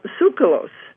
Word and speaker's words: Tsoukalos: his is giorgio uh sucralose you pronounce it very well that's perfect absolutely i just said leave the tea off and i guess we're